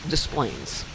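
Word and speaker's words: Des Plaines: Where in Illinois we would say something that's spelled with the French versions like that. Like displays is displayplains. If it's got a letter, we're saying it. None of this silent letter stuff.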